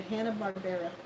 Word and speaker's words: Hanna-Barbera: Yeah, Hanna-Barbera.